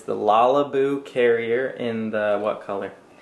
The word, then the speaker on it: Lalabu: cool carrier it's the lalaboo carrier in the what color it's actually like so the brand is lalaboo but literally it's called la la boo like character but it's spelled with